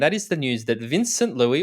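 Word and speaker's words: Vincent Luis: is the news that vincent louis or vincent or vanson or or however you choose to pronounce it vince louis vincent louis looks to compete at the 70.3 world championships in 2022.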